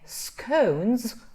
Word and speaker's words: scones: we have another problem when we say the the s s right the plural right and we say scones or scones we we say this is cons these two consonants in English are called voiced consonants voiced consonants and the problem with voiced consonants for Spanish speakers is that we tend not to say these things correctly so um are two consonants that have got sound or voice scones or scones and